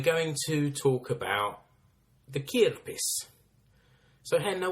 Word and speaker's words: kirppis: to talk about the kia piss so henna what is kierpis have i said it right to start yeah yeah you did yeah it's it comes